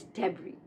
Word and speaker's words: debris: S is silent. Here the pronunciation is debris.